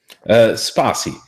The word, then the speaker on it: Spatie: is the fact that Spatie, is that how you say it? Spatie? Spatie. Spatie. Yeah, that's pretty good.